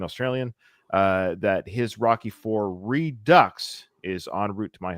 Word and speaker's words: Redux: As a French person, Oh. I do pronounce the X in redux. So I was pronouncing it wrong. It is redux, right?